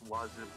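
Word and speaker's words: oiseau: So, for example, the word bird is pronounced wazoo.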